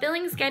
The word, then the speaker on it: Billingsgate: quite crude language but Billingsgate itself actually rhymes with plenty of other words so you could say something like dinner plate you could say like Billingsgate also rounds with contemplate dictate anything with the ate and you could say